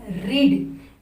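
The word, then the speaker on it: read: And second form is रेड, and third form is also रेड। Spelling same है पर हमारा pronunciation change हो जाता है सेकेंड और थर्ड फॉर्म के लिए, तो इसे रेड कहते हैं।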